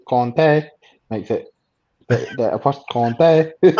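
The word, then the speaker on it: Kanté: in the sense that in French it's Kante, but in Malian it's Conte. And he is Mali. I think the name is Malian. It's a family name. So technically, it should be Conte.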